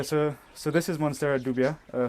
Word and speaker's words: dubia: so this is moner dubia uh some people pronounce it as Dua uh right and it